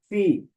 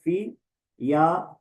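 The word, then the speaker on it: φ: Number one इसको बोलते हैं फी। कुछ लोग बोलते हैं फी। लेकिन कुछ इसको बोलते हैं फ़। तो ये दोनों तरह से प्रोनाउंस हो सकता है फी या फाय।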